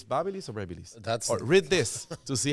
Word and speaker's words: BaByliss: how to how do you how do you pronounce that that is a good video like you go it's Babel is read this to see how many people are